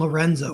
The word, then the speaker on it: LRNZ: Like my two favorite artists are Bengal and Lorenzo, which is spelled LRNZ, kind of whatever.